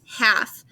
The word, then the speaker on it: half: we have the word half it looks like health but we don't pronounce the l it's silent so this says half